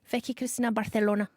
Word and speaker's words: Barcelona: old hamon hamon co-stars say it right barthelona Barcelona sorry it became